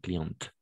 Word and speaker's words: cliente: de la même façon en client une cliente à la fin cliente d'accord et de la même façon une patient impatient en patient une patiente à la fin voilà et c'est la terre finale donc le E on le prononce jamais bien sûr mais cliente patiente d'accord et au masculin